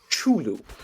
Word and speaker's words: Cthulhu: fact about Cthulhu specifically his name is actually supposed to be pronounced chulu really no one says